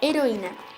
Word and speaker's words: heroína: Por último, la palabra heroína. Podemos ver un hiato constituido por una vocal cerrada tónica y una abierta átona. Curiosamente podemos determinar de que a pesar de que es una palabra grave y terminada en vocal, lleva tilde. Esto se debe a que este tipo de hiatos siempre llevan tilde.